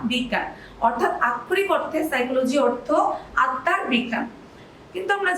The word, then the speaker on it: psychology: এই নামের বানানটাতে একটা ইন্টারেস্টিং পার্ট আছে। সাইকোলজি শুনলেই কি মনে হয় আমাদের উচ্চারণ বানানটা কিভাবে হবে, এস দিয়ে শুরু হবে, কিন্তু আসলে কিন্তু তা না। সাইকোলজি বানানটা শুরু হয় পি দিয়ে, অর্থাৎ PSYCHOLOGY, সাইকোলজি।